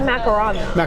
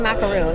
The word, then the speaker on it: macaron: It was a macaron. It was not a macaroon. It was macaron. It's spelled with 2 O's.